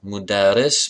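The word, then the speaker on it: مدرِّس: Secondly, I mean, listen to the pronunciation difference. It's the difference of a short vowel. Mudaris, mudaras.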